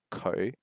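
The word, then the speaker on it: 佢: he is in chinese in cantonese uh they pronounce the words for he she and it exactly the same way so in cantonese the word is ko ko for he or she or it uh so you don't get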